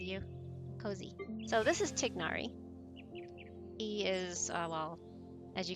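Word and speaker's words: Tighnari: actors mispronouncing technari's name it's actually tignari it's not tainari it's tignari and the English voice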